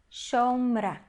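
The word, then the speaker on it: שָׁמְרָה: Primeira sílaba é uma sílaba fechada, consoante, vogal, consoante, e ela é uma sílaba átona. Então, nós vamos ler como O. E a última sílaba, ela é a sílaba tônica da palavra, então a gente vai ler como A. Shomra.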